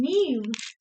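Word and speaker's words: Niamh: yeah oh i said i really like the girl's name meme but it's spelled n-i-a-m-h because it's irish yeah insertia is like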